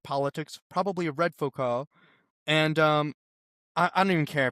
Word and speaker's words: Foucault: I don't know how to pronounce it. I've only seen it written down. Foucault. Foucault.